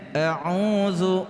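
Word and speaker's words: أعوذ: Selanjutnya keliru huruf dal, ya, keliru huruf dal yang tidak ada titiknya dengan huruf zal yang ada titiknya. Ketika mengucapkan harusnya a'udzu, ya, a'udzu billah, a'udzu billah.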